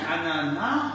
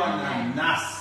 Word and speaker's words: ananas: Dit ananas ou ananas? Ananas. Ah. On ne prononce pas le S.